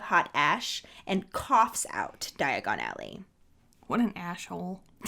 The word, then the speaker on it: Diagon Alley: in the movie it never clicked for me that diagon alley was diagonally until my husband pointed